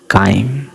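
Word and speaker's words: chyme: देखने में बहुत ही ज्यादा बेकार भद्दा और उसको हम लोग बोलते हैं काइम। स्पेलिंग आप देख रहे हैं।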